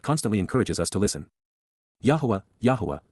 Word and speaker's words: Yahowah: Yahowah, the proper pronunciation of Yahowah, God's personal and proper